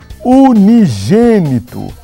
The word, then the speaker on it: unigênito: É a palavra unigênito.